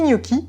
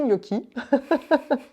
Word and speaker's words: Niochi: Petit Gnocchi, qui s'écrit N-I-O-C-H-I. C'est ça. On a tendance à t'appeler Gnocchi, Gnoc, Gnocchi.